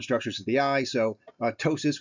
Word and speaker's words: ptosis: So ptosis with a silent P, meiosis, and ophthalmos.